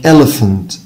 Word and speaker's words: elephant: طيب البي اتش ساوند، طبعا لو شفنا البي هنلاقيه بينطق با، والاتش هنلاقيه بينطق ها، لكن لو جمعناهم الاثنين هبص عليهم بينطقوا صوت تاني خالص هو الفا ساوند، لايك elephant elephant.